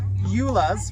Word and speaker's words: Joola: But anyway, this is the Joola's, right? Did I pronounce it right?